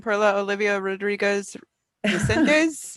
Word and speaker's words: Perla Olivia Rodriguez Resendez: I do want to check pronunciation. Perla Olivia Rodriguez Resendez.